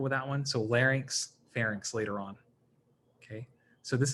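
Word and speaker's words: pharynx: fun of anybody but you want to pronounce these as like larynx or FX okay because um just the way it's spelled some people say ferx and I think what they're doing is they're switching the n and the Y right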